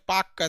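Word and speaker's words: Palk: उन्होंने इसका नाम पाल कर रखा था टी-शर्ट पाकर तेल साइलेंट होता है तो यह आपका कौन सी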